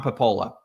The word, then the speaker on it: Papola: we got on you you are indeed you are pronouncing it the way I have always pronounced it however if you're in Italy they would say papa and they look at you like you have two heads if you say POA when they s so uh all